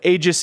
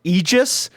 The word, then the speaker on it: Aegis: that there is the I believe the correct Greek pronunciation of Aegis is like egis or something like that and somebody once told